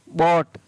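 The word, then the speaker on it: bought: तो OU के बाद में यहाँ पर भी GS है, और GS का उच्चारण नहीं हो रहा है। फिर है BOUGST, बॉट, BOUGS, बाऊ, PLOUGS, प्लाऊ।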